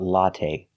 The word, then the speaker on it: latte: Now let's talk about latte. We say latte. We don't say latte. The last syllable is the long a. It's not stressed, but we use the long a like say and pay.